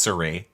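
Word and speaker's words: Cirie: It would help if you knew that her name was Cherie. Cherie. There's no H.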